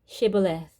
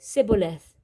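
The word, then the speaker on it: shibboleth: said no i'm not they would tell him to say shibaleth if he was from ephraim he would say siboleth because people from ephraim cannot pronounce the word correctly then they would take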